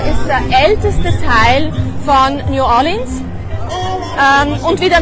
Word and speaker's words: New Orleans: heutige Stadt New Orleans man sagt nicht New Orleans sondern es wird New Orleans ausgesprochen oder noch besserle und wir haben da